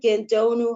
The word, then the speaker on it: Gandonou: saw my pronouncing that right yeah doctor huh um it's actually dr. Gedo new ha because I kept my last name and